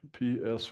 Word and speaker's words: psyllid: can see the little psyllid, P-S-Y-L-L-I-D. It's a great Scrabble word. The P is silent, so psyllid.